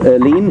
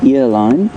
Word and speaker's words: Erene: bit forward again so erene that's how we're going to pronounce your name unless we hear anything otherwise we shall not pronounce it Earline ever again uh thank you